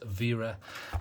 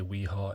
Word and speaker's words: Wera: Yes, I realise it says it's got a W there, but it's German, so I'll pronounce it how they would. So it's Wera, similar in regards to, you've got some people say Weha, it's Vha.